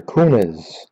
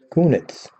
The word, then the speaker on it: Kunitz: wings next chris or kunis philadelphia penguins let's see if i get my camera come on sometimes it doesn't there we go kunitz better than the way i pronounce it the first time pekka rain nashville predators